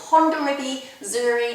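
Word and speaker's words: Hondarrabi Zuri: the great variety is are quite difficult to pronounce um and neither know no I have ever heard of them before it's Honda riby Zuri and Honda riby Belzer yes yeah exactly nowly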